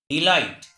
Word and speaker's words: delight: If at the last of any word GH or GHT is found, in that condition GH is silent.